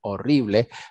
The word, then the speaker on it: horrible: igual que en español horrible pero se pronuncia la H es una J horrible fue horrible y